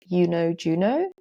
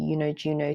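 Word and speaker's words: YunoJuno: In fourth place is somewhere like Yuno Juno. So that's spelled Y U N O J U N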